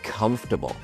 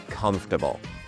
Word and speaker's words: comfortable: can say it is comfortable. The pronunciation is comf-ter-bil.